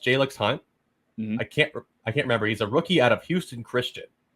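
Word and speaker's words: Jalyx Hunt: And then I believe it's pronounced Jalix Hunt.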